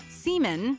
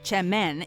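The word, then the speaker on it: Çemen: Spelled with a C, semen, pronounced chemen, is in reality a popular type of dip or spread that hails from Turkey.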